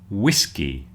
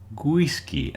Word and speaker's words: whiskey: In words like whiskey and windy, it might be very tempted for you to say something like gisy and gwindi with a little g sound at the beginning. So that's something to look out for. Don't put a little g at the beginning. It begins with a w.